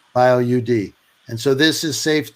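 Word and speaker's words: BioUD: talked about the bio how is it pronounced by oud or bioriod are you d bio UD and so this is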